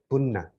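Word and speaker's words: puñña: double o in bun in pali or sanskrit they pronounce as punna okay this is a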